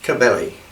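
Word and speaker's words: Κυβέλη: The Greek pronunciation of it is Kabeli, which you have a little thing. What the K is in Greek, when you get into Latin, you have the letter C. Early Latin, it's a C pronounced like a K, and then the late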